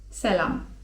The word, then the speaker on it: selam: selam (czyt. selam) W języku tureckim jest też słowo 'dzień dobry'.